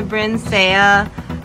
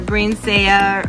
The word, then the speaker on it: Brinsea: me we have the brinsea incubator brainsaya or brincy or however you want to pronounce it this is the octagon